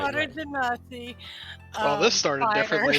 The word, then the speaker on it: genasi: Sierra Tsunami is a water genasi. Yeah, genocide. Sorry, you're right. Yeah, water genocide. Yep. Genocide. Yeah, you're right. Water You're genasi.